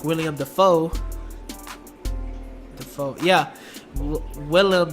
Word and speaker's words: Willem: William Dafoe so yeah Willem Dafoe I always pronounce of William and you have an